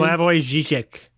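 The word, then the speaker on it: Slavoj Žižek: Like there's um Slavage Ziz, right? Wait, how do you say his name? Slavo Zek. Slavo Xek.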